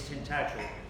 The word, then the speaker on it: Tintagel: So I thought, oh my goodness, now I've got to tell everybody how to pronounce the name. It's Tintagel.